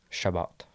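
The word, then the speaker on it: Chabot: So How do you pronounce that name? Shabbat.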